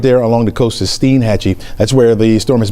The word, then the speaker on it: Steinhatchee: Steinhatchee? Steinhatchee, Florida.